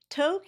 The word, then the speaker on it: Tok: Tok is pronounced like joke or coke.